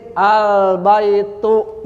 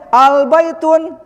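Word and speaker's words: البيتُ: Adapun yang kedua kemasukan alt'rib maka dia tidak boleh tanwin albaitu dibacanya. Paham? Jelas ini. Nah, jadi kaidah ini kaidahnya yuhzaful tanwinu dukuli a. Tanwinnya dibuang ketika kemasukan albaitu. Jadi enggak boleh albaitun ini salah.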